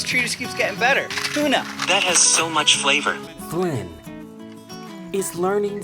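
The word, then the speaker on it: toona: pretty t-o-o-n-a like Flynn goes like tuna fish but it's spelled t-o-o-n-a and they're very rare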